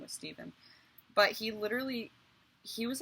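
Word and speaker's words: Стивен: You know how this is pronounced? Steven. C-T-N-B-H. It's Steven in Russian, but that's how you spell his name.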